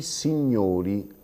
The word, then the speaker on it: signori: Sentite la differenza: il signore con la O aperta, i signori con la O chiusa, il professore con la O aperta, i professori con la O chiusa e così via.